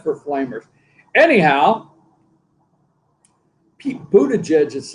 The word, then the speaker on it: Buttigieg: Pete Buttigieg.